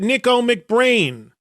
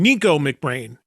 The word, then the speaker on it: Nicko McBrain: Nicko McBrain. It is not. It is Nicko. Just look how it's spelled. N I C K Nick with an O at the end of it.